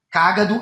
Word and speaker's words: cágado: Cágado é o animal que parece uma tartaruga. cagado é o Javier Milei, presidente da Argentina, que usa fralda geriátrica aos 55 anos e tá cagando com a Argentina.